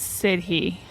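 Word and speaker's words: sidhe: think I think it's uh I think it's sidy I think is how it's said do you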